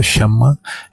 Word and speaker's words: Shyama: Então a primeira é S-H-Y-A-M. E outra palavra, Shyam, essa primeira é Shyam. E a segunda, Shama, S-H-Y-A-M-A. Do not put the Shama. S-H-Y-A-M. And R-S. Pronunciation different meaning.